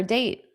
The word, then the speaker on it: date: Now, here I can pronounce that T because it's at the end of a sentence. There's a period. So, I have to take a pause anyway.